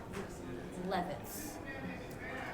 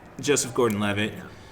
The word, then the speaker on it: Joseph Gordon-Levitt: From what I'm hearing, then it sounds like Kubrick meets Wes Anderson with this flick for Levitz. Yeah. I am mispronouncing the name left and right today. Joseph Gordon-Levitt.